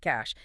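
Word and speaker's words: cache: Right, the cash. Pronounced like cash.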